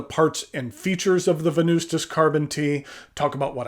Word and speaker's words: Venustas: go over the parts and features of the venustas carbon tea talk about what I care for